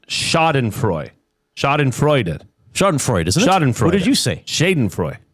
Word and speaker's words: Schadenfreude: Oh, and it's pronounced Schadenfreude.